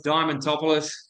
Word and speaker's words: Diamondtopolis: I always struggle to spell it myself, so it's a it's a tough one, but it's actually easy to say. It's Diamondtopolis, but yes, Diamond for short is my stage name here at the office.